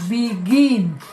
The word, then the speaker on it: begin: en casa lo reconocieron su pronunciación correcta es begin con más fuerza en la última sílaba entonces ya cumplió con